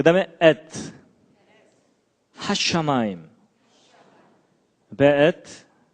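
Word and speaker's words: וְאֵת: 그 다음에 에트, 하샤마임, 베에트. 요게 이제 W인데도 여기에 독일식 발음을 해서 베 이렇게 읽는다고 합니다.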